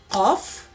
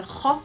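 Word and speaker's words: قاف: Some of them say it wrong because they read it as the letter kha, kha, kha instead of qaf, and some read it little lighter and they read it as ka, ka, ka. Both the pronunciation is incorrect. The letter qaf comes exactly at the end of the tongue, beginning of the throat.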